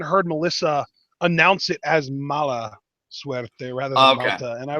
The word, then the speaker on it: Mala Suerte: And then Saltador and, what was it, Malta Suerte? I think is how you pronounce his name. Mala Suerte. I think the Lucha Underground Instagram had a typo because Mala Suerte actually means bad luck, and I have no